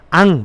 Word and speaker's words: ang: 먼저 앙 보겠습니다. 앙. ang 영어로 ang 앙. 한번 따라해 볼까요? 앙. 앙. 네. 앙은요. 한국 발음으로 그냥 앙 납니다. ang니까 앙. 앙. 앙. 예, 이렇게 발음 납니다.